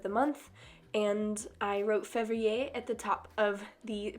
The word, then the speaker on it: février: February in French is pronounced février, and I wrote it in some wispy lettering above all of the days of the month on my cover page.